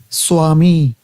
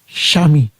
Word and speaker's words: Swami: So typically I would have said Swami. I come to the Bengali pronunciation. Now I make an effort to say Shami.